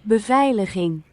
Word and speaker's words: Beveiliging: Beveiliging.